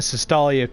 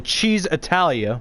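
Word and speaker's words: Cisitalia: Well, this is the one where you get in the Sestalia coupe. No, I'm gonna pronounce the name of the car right. The Cheese Italia, my bad.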